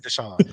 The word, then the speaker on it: Desa: deson oh my God but I get everything but Desa that'd be the wild like it spelled Desa it's spelled clear as day they call me everything